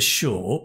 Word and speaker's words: sure: four is for sure and although it's s u it's a sh sound for sure it's a sure right that long vowel sound i can't say for